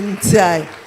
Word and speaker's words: Ndiaye: Et je tiens aussi à dire merci au couple Ndiaye. Je prononce toujours comme chez nous, Ndiaye.